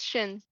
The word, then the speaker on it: Xin: Sin. No. That's how you spell it. Sin. It's Xin. It's a sh noise. It's Shin.